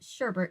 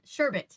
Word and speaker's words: sherbet: again Hannah had placed Sherbert glass sherbet sorry I always say it wrong sherbet glasses filled with